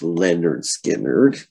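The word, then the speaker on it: Lynyrd Skynyrd: my fourth tune so it is pronounced leonard skinner yes um simple man's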